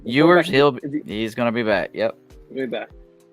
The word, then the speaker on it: Ewers: How do you say his name? Ewers.